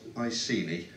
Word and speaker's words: Iceni: a moment okay so it's pronounced I see me I seen he were a celtic tribe